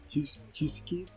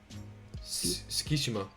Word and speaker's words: Tsukishima: But I would say my favorite character, maybe the guy with the glasses, Chuseki. Tsukishima.